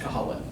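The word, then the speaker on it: Cú Chulainn: Cuchlainn, pronounced Colin.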